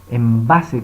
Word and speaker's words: Embase: Embase, que se dice la pronunciación en español, que usted tiene que pagar para poder hacer utilización de esta base de datos.